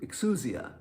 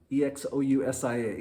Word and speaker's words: exousia: word used here is a greek word which i hope is pronounced right as x excu exousia e-x-o-u-s-i-a exousia and it means